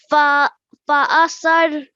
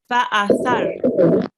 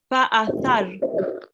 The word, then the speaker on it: فأثرن: Fa'asar. Okay. So this tha, it is pronounced very softly. Okay. Try to touch your tongue to your upper teeth and then pronounce the tha. Fa'athar. Fa'asad. Fa'athar.